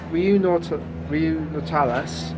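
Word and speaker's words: Riu Nautilus: So the Riu Nautilius, as it's pronounced, in Torremolinos, is a 4-star hotel.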